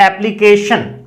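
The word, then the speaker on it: application: अब दूसरा आता है यदि TION से पहले S साउंड नहीं, यदि S नहीं हो कुछ और हो तो फिर चे नहीं बनेगा, फिर शे बनेगा। जैसे एग्जाम्पल हमने लिया है एप्लीकेशन, एप्लीकेशन, तो देखिए TION से पहले ए आया हुआ है, तो यहां पर चे नहीं आया, दुए वाला शे आया हुआ है, शलगम वाला।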